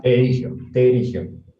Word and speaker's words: pterigio: Terigio. Tigio, ¿no? Terigio. Tigio. Terigio. Con Sí. P. Ya, perigio. Con T de tapa. Ya, terigio. Se escribe con P, pero Pterigio es, ¿no?